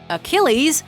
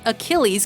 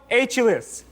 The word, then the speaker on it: Achilles: needed to do to win that sum was pronounce Achilles correctly instead he said something mythological hero aulus can't accept that later Julian had a chance